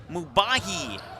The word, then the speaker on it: Mubahi: Mubahi Baker is how you say his first name.